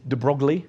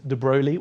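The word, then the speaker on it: de Broglie: The worst version is Drogley. It's not Drogley. The slightly better version is Dbroli which is what I go for.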